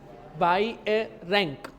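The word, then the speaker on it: Beijerinck: नाम है बाय रंक उसको हम क्या बोलते हैं बाय अ रैंक ये उसकी प्रोनंसिएशन है ये उसकी प्रोनंसिएशन है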